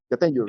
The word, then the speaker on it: Jatenjor: Yes, you pronounce it right. Jatenjor.